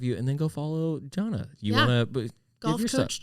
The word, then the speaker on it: Gianna: Yes, it looks like Gianna, but in Italian it's Gianna.